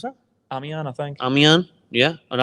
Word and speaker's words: Amiens: How do you pronounce that? Amiens, I think.